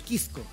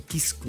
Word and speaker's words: Quisco: Permítame felicitar al colega porque ha dicho muy bien Quisco. Sí. Pronunciar eso porque acá tendemos a decir Quisco. Quisco. Quisco. Quisco. Quisco. Lo felicito. Suena como Quisco. Lo felicito en cámara. Hay que pronunciar la S.